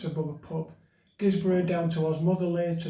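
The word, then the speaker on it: Guisborough: to gizbar sorry uh I think it's called pronounced gizbar got a B&B there no is it it's above a pub gizbro down to OS motherly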